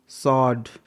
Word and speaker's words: sword: SWORD, सॉड, यहाँ पर S के बाद W है स्टार्टिंग में तो W साइलेंट है।